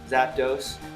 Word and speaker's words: Zapdos: Like, pardon my pronunciation, but Articuno, like uno, 1, Zapdos, like 2, dos, and Moltres, like 3, Moltres. Anyway, just a little side